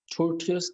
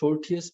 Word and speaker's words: tortuous: tortuous का मतलब हमारे पास है, इसको 2 तरह से प्रोनाउंसिएट किया जाता है, tortuous और tortuous।